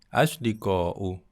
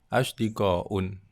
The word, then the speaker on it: أصدقاء: Asdiqa'u, ya. Jadi bukan asdiqa'un. Ya, tadi kedengarannya seperti asdiqa'un, ya, pengucapannya. Secara tata bahasa yang benar adalah asdiqa'u, seperti itu.